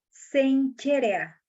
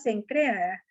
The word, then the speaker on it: Cencrea: Y algo que me llamó mucho la atención es que se pronuncia Senchera, Sencherea, Sencherea, así se pronuncia. Y nosotros decimos Sencrea, pero se pronuncia Sencherea, así se pronuncia.